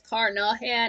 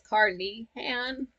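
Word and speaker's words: Carnehan: I thought it was caraan it's caran but you know that's just the way it's spelled not the way it's pronounced okay now you can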